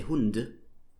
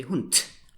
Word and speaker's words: Hund: So you write Hund with a D, but you would never say Hund. You say Hund. So you spell it with a D, but you speak it with a T.